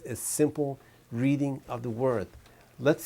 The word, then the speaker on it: wo: Well, for example, we had thought about the word I, the first pronoun I, and as simple as that sounds, it actually is not that simple.